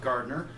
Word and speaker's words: Gardner: I believe I'm sorry i believe it's pronounced Gartner the film the cast